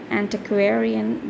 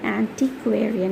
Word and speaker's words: antiquarian: Antiquarian bookseller, it is not antiquarian, it is antiquarian, okay, or it is relating to the study of antiquities.